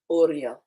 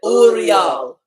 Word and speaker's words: Uriel: Oreo. Oreo. Oh, that's where we get Oreos from. Gotcha. I didn't say Angels Oreo. be- I said Uriel.